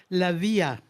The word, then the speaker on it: Lavia: Lavia, like Maria. It should be Oh, easy yeah, even of for you, course. Mel. You corrected me once before. That rhymes with Yes. Maria, so it's Lavia.